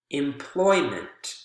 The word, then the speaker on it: employment: Employ, employment, employ, employer. Whether it's employment or employer, you can see that both of those suffixes do not change the syllable that has the word stress.